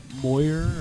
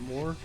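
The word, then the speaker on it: Mooer: It's like the Brown Sound 3 by Moyer, or I don't know how you pronounce it. Moore. It's spelled M-O-O-E-R. More pedals. Yeah. Mm-hmm.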